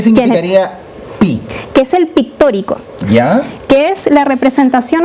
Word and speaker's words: pictórico: Pictórico. Con acento en la O.